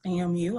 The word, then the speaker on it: FAMU: Milena explained earlier that's pronounced FAMU.